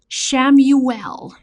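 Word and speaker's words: Chamuel: So the name of the angel is Shamuel and sometimes it is spelled like Camuel.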